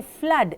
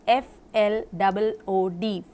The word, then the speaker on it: flood: When you say flood, it is F-L-O-O-D, flood. But blood and flood are not pronounced as food.